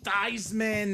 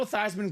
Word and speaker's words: Theismann: His name is Joe Theismann. But Notre Dame decided, let's make a campaign for the Heisman. Let's change the pronunciation of your name to Joe Theismann. Theismann for the Heisman. He was a finalist. He did not win, but the name stuck.